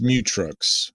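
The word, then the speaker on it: Mutrux: RX is his name it's mut truck so it's like me trucks mut trucks I've never heard the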